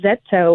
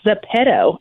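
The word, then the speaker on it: Zepeto: Um, was crying on the internet expressing how dangerous this app called Zetto. Well, I've come to find out I'm pronouncing it wrong. It's Zapedto.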